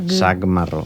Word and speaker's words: sac marró: fa és la K, la C, que és pronunciada com una K, l'arrossega, li dona sonoritat. I aleshores l'equivalent és la G. Sac marró, sac marró.